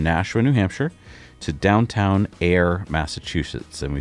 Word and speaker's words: Ayer: Goes from Nasha, New Hampshire to downtown Air, Massachusetts. And we spell that A Y E R.